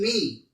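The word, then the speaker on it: knee: w is not pronounced k n e e me when it is pronounced k is not pronounced p s says c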